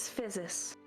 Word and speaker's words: Physis: it's like physics. Physics.